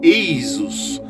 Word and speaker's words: Esus: O trabalho contém um talismã mágico médico decifrável em gaulês, como de aparece é invocar o auxílio de Jesus, pronunciado Eisus, na cura de problemas de garganta.